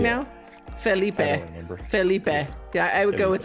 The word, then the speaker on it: Felipe: Felipe. Yeah, I would go with spicy because I definitely prefer the spicy pronunciation, as the children at LLP have pointed out to me.